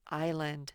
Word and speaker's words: island: don't say island say island the s is silent when you get to